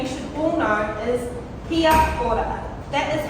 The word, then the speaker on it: kia ora: So the first thing you should all know is kia ora. That is how you say hello. So can I hear that from everyone? Kia ora.